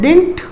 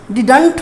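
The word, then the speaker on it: didn't: डिड plus not की contraction को आप बोलते हैं डिंट। डिडंट भी बहुत से लोग ऑफकोर्स प्रोनाउंस करते होंगे, लेकिन इसका एक्चुअल प्रोनाउंसिएशन है डिंट। ठीक है, डिंट। डिडंट्स ना बोलकर आप इसको डिंट करके प्रोनाउंस कीजिए।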